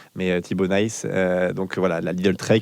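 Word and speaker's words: Thibau Nys: On m'a dit c'est pas nice comme en anglais. Nice. On va essayer de prononcer à à la néerlandaise mais en tout cas voilà à la flamande mais Tibo Nice.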